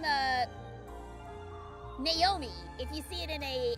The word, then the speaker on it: Naomi: and my husband keep kept calling her Naomi and I'm like it's Naomi. They're even saying it. It's Naomi. Say it right. But yeah, Carter and Naomi are are interesting interesting little names here.